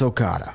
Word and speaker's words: Okada: I thought if you knew the whole name, I was going to give him I'm terrible at pronouncing. Okay, Okada, I'm not going to butcher it. It's Okada.